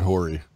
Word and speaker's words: Horry: It has an H. It's Robert Horry.